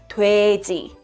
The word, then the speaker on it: 돼지: But in Korean, the pronunciation is 돼지.